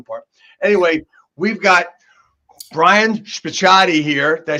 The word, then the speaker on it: Spicciatie: Anyway, we've got Brian Spicciatie here.